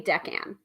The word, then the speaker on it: decan: So Sophia's saying decan. Decan. Okay. So I think I was saying it correctly. Hopefully. Anyway, when you know better, you do better, right? So decan wheel.